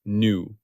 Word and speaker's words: Nu: Its symbol is the Greek letter new pronounced new like new. I have mistakenly pronounced this as V. That was an error. It is new.